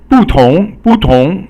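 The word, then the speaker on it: 不同: So 不同 means different. So fourth tone and then second tone.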